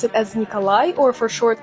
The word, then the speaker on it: Nikolai: it is a really popular name and we pronounce it as Nikolai or for short K Alexi no Alex it's